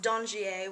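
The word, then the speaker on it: Dangier: but it's actually pronounced dongier which is a french term and it's kind of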